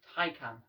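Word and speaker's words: Taycan: it's pronounced by the way and the porsche tycoon that's also how it's pronounced they're both spelt completely different i just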